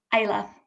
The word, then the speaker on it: Isla: Is it Elsa? Is that how you pronounce it? Isla. Isla, sorry. But don't worry, everyone always gets it wrong.